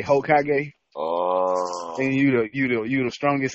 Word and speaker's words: Hokage: They say Hokage.